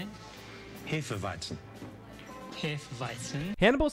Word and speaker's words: Hefeweizen: No, sir, please. It's Hefeweizen. Yeah, don't pronounce that shit wrong.